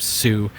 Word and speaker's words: su: I would just type sue and hit enter. And that is spelled su for those of you who are just listening.